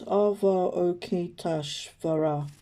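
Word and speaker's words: Avalokiteshvara: with spiritual growth concerns so it's pronounced ava okietash vera the message is you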